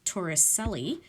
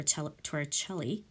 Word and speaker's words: Torricelli: They renamed the millimeter of mercury after an Italian physicist, Torricelli, or Torricelli, however you want to pronounce it. I think it is Torricelli.